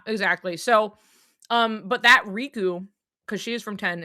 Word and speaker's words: Riku: So, um, and like in Japanese, they have like a slightly different pronunciation. Like the emphasis is a little different, but like to the English- speakaking audience, RKU is Riku. It's not It's not different.